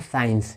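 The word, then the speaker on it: science: जैसे देखिए SCIENC, आप देख रहे हो कि एस के बाद सी आ रहा है, तो यहाँ पे जो सी है ये साइलेंट है। इसको हम पढ़ते हैं साइंस।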